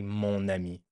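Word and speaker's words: mon amie: So just to make it easier to pronounce even if it should be ma well we still say moni right so that's a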